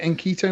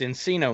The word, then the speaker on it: Encino: funny how do you how do you pronounce en quito man is it inquito man it's encino man the classic from the